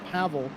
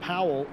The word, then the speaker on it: Pavel: I think it's that his name is pronounced Pavel or Pavel not Powell as I pronounce it uh because I don't think in the his native language that uh there is a w I think it's pronounced as a v uh so uh kalinsky